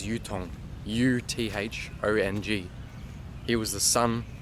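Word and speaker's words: Uthong: I might pronounce that wrong, but the easiest way I can say it is Yutong.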